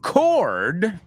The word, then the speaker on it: cord: And cord is el cable. Cord is different from word. Claro. Cord, word. Oh, my Lord. And Lord is different. Well, Lord rhymes with cord, but not with word.